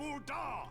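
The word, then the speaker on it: Ul'dah: and daughters flourished and prospered i speak of ulda so that's how you're pronouncing all the ball there at the flame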